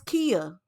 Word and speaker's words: Kia: Her name is Kia. It's pronounced Kia, but it looked like Kaya.